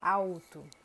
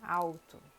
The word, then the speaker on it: alto: Depois, outro som é o som da letra L no final da sílaba ou no final da palavra. Então, por exemplo, a gente fala Brasil. Não é Brasil, é Brasil. Ou alto. Também, alto. Brasil.